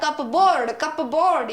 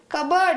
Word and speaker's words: cupboard: कुछ लोग बोलेंगे ये तो हो गया कप और ये तो हो गया बोर्ड, तो हो गया कप बोर्ड। ये कोई प्रोनाउंसिएशन थोड़े है ना है कपबोर्ड का प्रोनाउंसिएशन। कबर्ड देखिए, ये तो हुई कबर्ड, और यूएस जो है कि है अमेरिकन इंग्लिश में से कहते हैं कबर्ड।